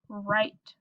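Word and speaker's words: write: says So, for example, in the word right, the first two letters are W-R. The W is silent. This word is right.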